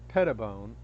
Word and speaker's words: Brittany Pettibone: Now, Lauren Southern, I can say that one was reasonable, and Brittany Pettibone. Pettibone? I don't know how to pronounce it. Sorry, Brittany. You said it right the first time.